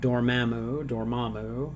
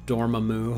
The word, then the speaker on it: Dormammu: Just don't call him Dormammu, okay? I'm pretty sure the way that Benedict Cumberbatch pronounced it in Doctor Strange made it pretty clear. Accent on the second syllable, please.